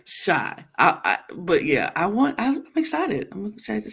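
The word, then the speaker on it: Shai: Not spelled with a Y. No, but S-H-A-I, but yeah, shy.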